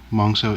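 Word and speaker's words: Monxo: Monzo is the the Titan Master, the head. I believe it's pronounced Monzo, M-O-N-X-O.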